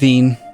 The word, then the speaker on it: Wien: Ironically, I think it's pronounced Wien with a V.